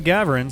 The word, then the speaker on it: Ghavoran: Green does go to Ghavoran, so let's do it. The solution to pronunciation in this game appears to be the emphasis is always on the first syllable whenever possible.